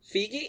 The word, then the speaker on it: Feige: month but kevin feig is that how you say his name fate fake kevin fake biggie figgy is that really how you say his name yeah color my mind blown kevin figgy regrets whitewashing